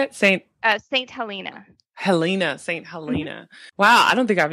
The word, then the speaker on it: Saint Helena: hell maybe is in the hope of ally how do you say it Saint Saint Helena Halina Saint Helena Wow I don't think I've ever heard of st.